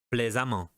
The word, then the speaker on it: plaisamment: D, plaisant, plaisamment. Et E, excellent, excellemment. Toute cette colonne se prononce amant, excellemment.